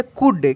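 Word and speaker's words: could: ही सी ओ यू एल डी को पढ़ेंगे कुड क्या पढ़ेंगे कुड आर यू एन रन एस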